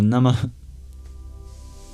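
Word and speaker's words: Namaḥ: And finally, at the end of Nama, there's an H with a dot under it that indicates what's called a visarga, an expulsion of breath. You can think of it like a sharp exhale.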